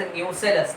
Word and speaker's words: nucellus: Notice the spelling, it sounds like न्यूक्लियस. देखने में ऐसा लगता है but actually it इज न्यूसेलस, तो वो ध्यान रखने का.